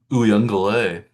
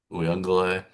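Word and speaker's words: Uiagalelei: But And yeah, it's a little surprising too, 'cause there's more of an N sound in there too. yeah, there's like Ungale, even though there's no N in the name. Right. Uyunglele, Yeah. Uyunglele, Uyunglele.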